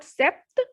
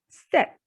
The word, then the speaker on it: sept: pronounced as joe sees in number 7 p will be silent so the pronunciation will be not sept it is set next is width because